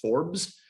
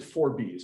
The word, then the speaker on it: Forbes: I know we would normally pronounce that Forbes, but he pronounced it Forbes.